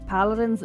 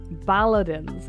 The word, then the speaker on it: Balladins: hell out of me paladins no balladins with a B but it is spelled exactly the same as paladins aside from that change which surprised me I